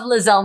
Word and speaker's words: Liezel: i love my name even though people say it wrong i will not change my name i love lizelle marie thank you mom uh what would they say well how are they they will call me liza liesel lysol lizzle like